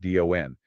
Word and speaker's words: DON: It's an acronym pronounced DON for Decentralized Oracle Network.